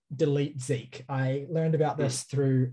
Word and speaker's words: DLT ZK: spelled dlt zk so there's no vowels in it but it's pronounced delete zeke i learned about this